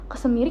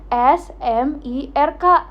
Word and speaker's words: smirk: Itu can tulisannya S M I R K. Oh, itu bacanya smirk. Eh, apa ya bacanya? Aku lupa. Smerk kalau enggak salah. Oh, smirk.